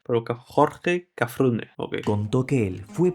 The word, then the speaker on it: Cafrune: Cafrune, yo lo llamaba Cafruné, no le daba como un acento en la Pero Jorge Cafrune, okay, contó que él